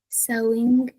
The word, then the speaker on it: sewing: have two two good which syllable is accented so which syllable sounds higher than the other first one the first one good sewing one two like that now um tabita